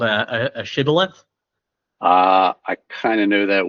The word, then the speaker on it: Shibboleth: Like, one group of them pronounced it Sibboleth and one of them pronounced it Shibboleth.